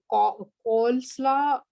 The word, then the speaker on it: coleslaw: We see that that E is going to change, become the silent E and change that O.